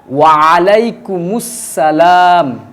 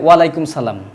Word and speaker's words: ওয়া আলাইকুমুস সালাম: অনেকেই বলে ওয়ালাইকুম সালাম। তো ওয়ালাইকুম সালাম বললে কিন্তু সহি শুদ্ধ হবে না।